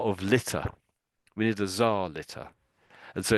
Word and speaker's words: czar: They're both pronounced basically the same, and it's Czar. It's Czar, Czar. Tsar.